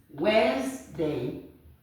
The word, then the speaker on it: Wednesday: Wednesday Wednesday forget letter don't forget that the letter D is not pronounced the letter D shouldn't come in at all it's Wednesday Wednesday with this okay Wednesday